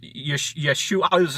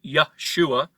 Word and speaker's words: Yeshua: ayin comes from the throat so when you pronounce yeshua's name it's pronounced yeshua not yahshua right and there's all kinds of reasons why